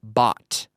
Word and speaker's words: bought: it were bo t it rhymes with words like pot or not I'm Canadian I'm not